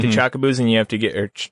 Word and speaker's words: Chocobo: chocobos or yeah chocobos you may hear me mispronounce the word CH Chocobo it's because I had a friend that used to say chaboo and for whatever reason he said it so much it rubbed off on me and that's the first